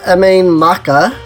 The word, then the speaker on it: Mabinogi: So let's go to Mabinogi, which I have learned is the proper way of saying this place.